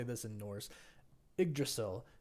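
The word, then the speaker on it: Yggdrasil: say this in Norse igdrasil is how I'm going to say it y g d r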